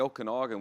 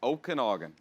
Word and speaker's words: Okanagan: Mom now lives in the Okanagan, which is absolutely beautiful. The Okie it's what? like- The yeah, what? That sound like you sneezed. Okanagan.